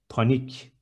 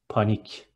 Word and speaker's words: panik: Next one, panic is panik. C becomes K, and it is panik.